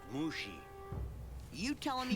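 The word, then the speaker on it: Mushi: uh mushy is it it's pronounced mushy you telling me how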